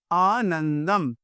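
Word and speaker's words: आनन्दं: होता है याद रखिएगा हिंदी में न और संस्कृत में म ठीक है तो आनंदम फिर से यतो वाचो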